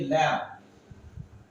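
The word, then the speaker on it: lamb: লিখেছি ড আকার মোডাম এখানে দেখুন বি এর উচ্চারণটা হয় নাই তাহলে কি দ্বিতীয়টা আপনি আসুন এখান থেকে লিখেছি এল এমবি ল্যাম্প দেখুন এখানে লিখেছি আমি এল এমবি ল্যাব দেখুন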